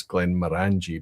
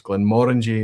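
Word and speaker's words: Glenmorangie: they talk about to assist pronunciation because if Glen Morangi is orangy that stops you saying it's Glen Morani because it's never about angie and it's always about orangey so it's Glen Morangi is the proper pronunciation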